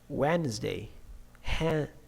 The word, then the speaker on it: Wednesday: And the another sounds, the voiced sounds now, they in some situations they have some silent sounds too. Plumber, climb, dat, bomb, B, and now D. Wednesday, handsome, handsome, sign, design, campaign, okay, in G sound.